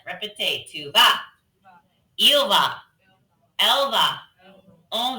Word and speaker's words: vas: Tu vas. That S is silent. Répétez, tu vas.